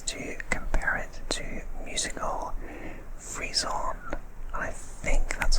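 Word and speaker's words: frisson: describe asmr is to compare it to musical freeze-on i think that's how you pronounce that word freeze-on freeze-on double f-r-i-s o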